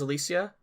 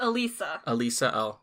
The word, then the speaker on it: Elisa: This woman who I'm assuming her name is Alicia. It's Elisa. Alicia. I'm putting an extra... You're putting an extra syllable in there.